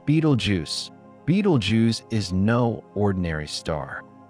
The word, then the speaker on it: Betelgeuse: Beetlejuice, pronounced Beetlejuice, Beetlejuice is no ordinary star.